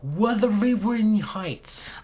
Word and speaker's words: Wuthering Heights: Number 1, Wuthering Heights.